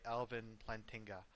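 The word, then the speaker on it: Alvin Plantinga: hand uh most recently it was revived by Elvin lantinga uh that's how you pronounce his name and that was the formulation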